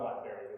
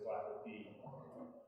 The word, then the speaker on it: Blackerby: So it's not Blackberry, it is Blackerby, unlike many people would say.